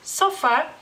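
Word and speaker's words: sofa: ustedes de aprender porque el lituano es sofá sofá como pueden ver a la palabra la pronuncia de una manera muy muy similar No es igual pero es muy similar simplemente a la a esa más corta no lleva ningún acento en el lituano bueno acento escrito porque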